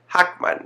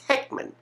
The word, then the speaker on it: Heckman: a tug of war say hakman no it's Heckman hakman Heckman hakman Heckman